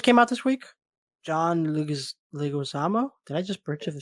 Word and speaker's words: Leguizamo: John Leguizamo. Did I just butcher the shit out of that?